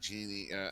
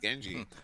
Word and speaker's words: Genji: Your Loco, and subs Genie, actually Genji, his name is pronounced Genji, Yeah, remember.